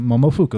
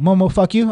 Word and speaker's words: Momofuku: So how do you say it again? I was like, Momofuku. He's like, oh, Momo fuck you. I'm like, that's not what I said.